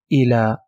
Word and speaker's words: إلى: If you remember in the first level, we said if you didn't find dots under this shape, it will not be pronounced yi, it will be pronounced a, so it will be ila.